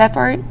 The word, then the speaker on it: FERC: The FERC?